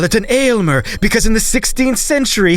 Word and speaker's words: Aylmer: Not Elmer. Aylmer. AYLMER, an Old English word meaning the all-inspiring famous one, and that he is indeed.